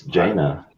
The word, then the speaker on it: Jaina: It's Jaina. It should be Jaina. Yeah. Did I misspell it?